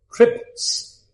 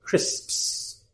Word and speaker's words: crisps: One of the most difficult words for Thai learners to pronounce is crisps. They can't do it. Crisps. No, crisps. very difficult word because of how they pronounce their own language.